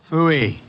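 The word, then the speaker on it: pfui: Fooey. It can be spelled in several ways. I spell it P-F-U-I.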